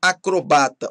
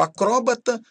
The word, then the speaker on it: acrobata: Palavras com dupla prosódia podem ser pronunciadas de dois jeitos, tá, gente? Então temos aí acrobata ou acróbata, homília ou homilia, oceânia